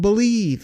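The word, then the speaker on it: Bleav: That's called Believe, and that's spelled B-L-E-A-V in Lions, Believe in Lions with myself, and Lions legendary safety, Benny Blades.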